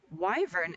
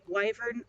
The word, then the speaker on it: wyvern: And about 20 minutes in, a wyvern, and then I actually looked it up. It's pronounced either way. Wyvern or wyvern are both correct because this is important to me.